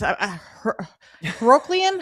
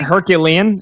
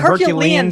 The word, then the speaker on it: herculean: So like Fernandanda Mendoza would have to do like be um Hercules Herokian. How do you say that word? What what herculean? It would take a herculean.